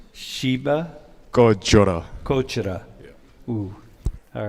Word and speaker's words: 꺼져라: Kotara. How do I do? Shiba Kotara. There's a bit of a G in the middle. Shiba 꺼져라. Kochara.